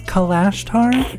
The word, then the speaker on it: Kalashtar: race it's a race I'm pretty sure it's kalashtar you are super close I don't I've never heard anyone else pronounce it but that is how I would